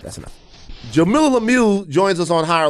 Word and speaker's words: Jamilah: Jamilah Lemieux joins us on Higher Learning today. It's pronounced Jamilah.